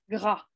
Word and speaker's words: gras: la fin tous les tous les adjectifs qui ok au masculin finissent par un S un D ou un T vous ne les prononcez pas d'accord alors allez-y Isabella